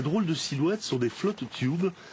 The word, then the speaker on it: float tube: de silhouette sont des flot tub on prononce aussi flot tube dans les clubs de